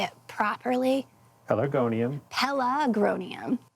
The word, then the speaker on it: Pelargonium: Pelargonium. Pelargonium. No, pelargonium. You're putting the R on the other side of the G.